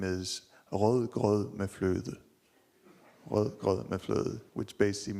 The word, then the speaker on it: rødgrød med fløde: The name is rødgrød med fløde.